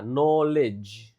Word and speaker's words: knowledge: Ini k-nya enggak dibaca ya. knowledge cara bacanya bukan knowledge knowledge.